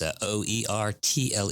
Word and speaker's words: Oertle: Oertle, which is spelled nothing like what it sounds like, at least not for my little pea brain. It's Oertle.